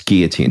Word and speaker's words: guillotine: and you're starting to get disoriented we don't pronounce the ellen it's guillotine isn't your mom a french speaker you also